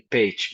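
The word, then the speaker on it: Pécs: And yes, the totally correct pronunciation would be page, but you did like an A minus, I would say.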